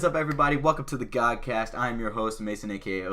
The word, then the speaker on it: GADCAST: Mason aka OC god hence the name God cast is not GAD cast just want to get that out for you guys so that way you understand how to say it anyways hopefully I don't